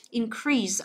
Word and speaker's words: increase: Nhớ là từ này động từ thì mới là âm thứ hai, nếu còn danh từ thì vẫn đọc là increase nhá. Danh từ của nó thì nó lại nhấn vào âm đầu tiên.